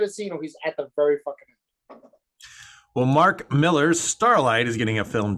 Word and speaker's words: Millar: found the proper pronunciation it's just supposed to be miller um i don't it